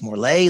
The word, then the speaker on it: Morlet: recording, I asked her, is it Morley or Morlet? And she says it's Morley, like in Chevrolet.